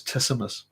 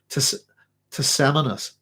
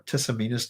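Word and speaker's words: Tisamenus: Pelopid line, which is Tisamus. Sorry, it's not Tisamus. Sorry, that's the wrong guy. Tisaminus or Tisaminus, depending on how you want to pronounce his name.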